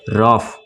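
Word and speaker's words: rough: जैसे रफ, इसको क्या पढ़ेंगे रफ, यानी यहाँ पे ये साइलेंट नहीं है बल्कि यह किसका साउंड दे रहा है फ का साउंड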